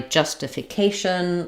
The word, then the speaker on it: justification: You might also want to start with a stress syllable like justification, politician. Um, or just take each syllable slowly then speed up like justification.